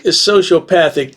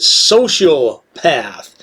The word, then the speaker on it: sociopath: that I pronounce it social path. No, I don't pronounce it social path. Perhaps I didn't enunciate correctly because it's definitely sociopath.